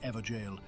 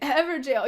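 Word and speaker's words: Evergaol: And Everjail. Yes, Everjail. Everjail. That's how you pronounce them, right? With the Gaol is like jail.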